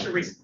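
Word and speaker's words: Charisa: My name is Sheresa. Sorry. My name is Sheresa. I'm the property man. You can spell that, please.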